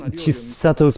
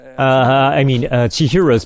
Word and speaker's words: Chihiro: So at 9 minutes, Chisato's parents, Chihiro's parents, I keep saying her name wrong.